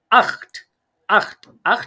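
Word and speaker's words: acht: আর এটা জিবেন অনেকটাই মিল আছে ইংলিশের সাথে আখ মানে কত আট বা এইচ যেটাকে বলি আমরা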